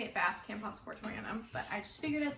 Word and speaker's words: Camposportoanum: Camposportoanum. So this is Philodendron Camposportoanum. I know how to say it fast, Camposportoanum, but I just figured I'd say it slow